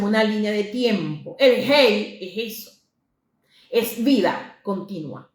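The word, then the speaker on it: ה: Y la última letra es la letra he letra he como tal no tiene una pronunciación sola. Ella no se pronuncia con la lengua, ella se pronuncia con la garganta y el sonido del aire.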